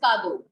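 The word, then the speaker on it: cadeau: E-A-U sound or A-U sound is all O. So it becomes kado.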